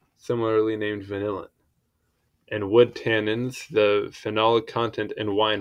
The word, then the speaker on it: tannin: as tanic acid okay tenin pronunciation please oh that's not oh that's British tannin okay tannins gotcha cool great um tannins vanillin